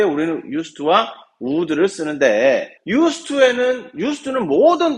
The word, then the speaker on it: used to: 배워보도록 합시다 자 이때 유즈드 따로 읽으면 근데 2가 붙으면 이때 쓰라고만 했습니다 그래서 유스트라고 읽어야 됩니다 이거를 가지고 영어가 제대로